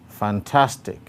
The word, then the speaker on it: fantastic: Number two, fantastic, fantastic. The stroke again is on the second syllable, tas.